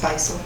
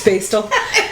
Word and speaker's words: Bastel: I think it's Beisel. Bastel. It's Bastel. And I only know that because I did a segment. I was embarrassing myself. It's totally fine. No. Everybody mispronounces it.